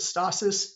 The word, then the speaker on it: stasis: This space right here is what's known as the point of stasis. Some people pronounce it stasis. Either way is acceptable.